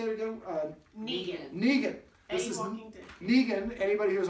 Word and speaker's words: Neegen: Neegen.